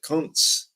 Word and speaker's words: Kunz: It should be pronounced the way that the Germans pronounce it, Kunz.